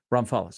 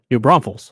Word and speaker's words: New Braunfels: I got a good high school program I'm butcher the last name Ron follis oh New Braunfels blue Braunfels thank you 120 gas pumps and